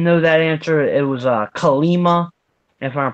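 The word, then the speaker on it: Kali Ma: It was Kalima, if I'm pronouncing it right. Kalima.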